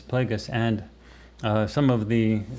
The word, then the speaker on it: Plagueis: the last book uh darth plagueis i actually mispronounced darth plagueis darth and i was saying it darth plagious but it starts plagueis plagueis and uh some of the people who watched